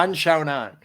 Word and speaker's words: Yan Xiaonan: name g you love saying her name yeah un shown on oh perfect uh five five minute rounds 115